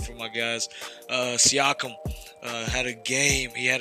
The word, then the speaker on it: Siakam: Siakam had a game.